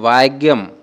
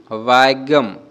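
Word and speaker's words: ഭാഗ്യം: ভাষায় কিভাবে বলবো তো মালায়ালাম ভাষায় এটাকে বলবো ভাগ্যম ভাগ্যম এরকম কিন্তু একটু উচ্চারণটা অন্যরকম ভাগ্যই বলে তো উচ্চারণটা দেখো এরকম আমি যেরকম বলছি ভাগ্যম ভাগ্যম ওকে লাক বা ভাগ্যকে আমরা মালয়ালাম ভাষায়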